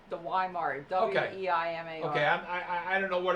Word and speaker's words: Weimar: Well, I think in Germany they say it Weimar.